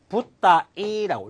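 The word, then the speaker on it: 舞台: 무대. 무대란 글자가 있는데 무대를 붓다이라고 읽을 수가 있습니다.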